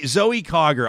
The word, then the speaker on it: Zoe Cogger: to remember the name zoe cog am i pronouncing it craig is it clogger is that how you say it yes zoe cogger i think like like eric is writing in